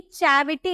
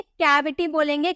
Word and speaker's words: cavity: कैविटी, इसे हम चौ में नहीं, चैविटी नहीं बोलेंगे, कैविटी बोलेंगे, क्योंकि के बाद ए देखने को मिला।